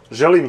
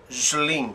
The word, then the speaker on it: Želim: Želim sretna nova godina.